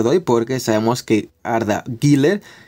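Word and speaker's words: Arda Güler: hoy porque sabemos que arda gilller es así como se pronuncia ha vuelto los entrenamientos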